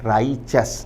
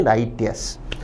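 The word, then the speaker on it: righteous: शब्द का उच्चारण नोट करें, राइचस ना कि राइटियस।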